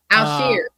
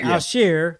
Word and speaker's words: Al-Shaair: I can't pronounce old boy's name. I think it's Al-Shaair. Al-Shaair. Thank you, Al-Shaair. Thank you, guys.